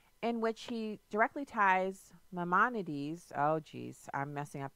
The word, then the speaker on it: Maimonides: just tore it up that's okay see it's Maimonides Maimonides okay okay Maimonides so how does that